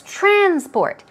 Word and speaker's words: transport: as I told you if its noun stress goes on the first syllable if it's a verb stress goes on this second and it will become trend support but here it's transport transport we're talking about public